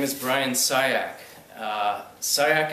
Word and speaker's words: Ciach: is brian sayak uh sayak is the correct pronunciation i i've gotten everything from cinch to clark sinatch pardon me but i've